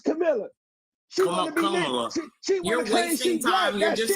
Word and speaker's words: Kamala: name is Cam straight up and down it's Camila you're wasting time you're dis up here to